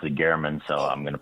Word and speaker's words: German: German well Jeff was um and and he pronounced it Gman so I'm going to pronounce it the way